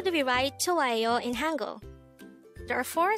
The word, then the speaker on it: 좋아해요: 좋아해요. This is pronounced as a four-syllable word. The first syllable is 좋, second syllable is 아, the third syllable is 해, and the fourth syllable is 요.